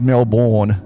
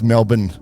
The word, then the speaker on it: Melbourne: not to be prepared so it's Melbourne and it's not pronounced Melbourne it's Melbourne um all right so